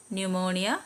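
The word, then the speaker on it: pneumonia: T silent ആണ് ഇനി silent P വരുന്നത് കബോർഡ് ന്യുമോണിയ സ്യൂഡോ ഇതിലെല്ലാം പി സൈലന്റ് ആണ് സൈലന്റ് യു വരുന്നത് ബിസ്കറ്റ്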